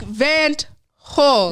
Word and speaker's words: Van't Hul: I always want to put the T after the hole. Yeah, and that's so incorrect. It's before. It's before.